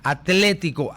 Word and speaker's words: Atlético: El equipo de fútbol que está calificado para jugar la semifinal de la Champions, el Atlético, ATLE, se pronuncia Atlético, ¿no es cierto?